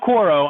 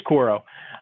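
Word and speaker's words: Quaero: i can't pronounce quote it's not quoro i think it's koro um and and then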